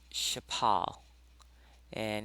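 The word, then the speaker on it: shaphal: the shemitic root uh chapal and in the ancient world our people would have pronounced this uh as uh Chapala and the meaning of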